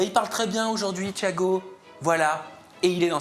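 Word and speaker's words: Tchiago: Thiago, à prononcer Thiago. T-C-H-I-A-G-O et pas Thiago. Thiago, c'est mieux comme ça, à la marseillaise.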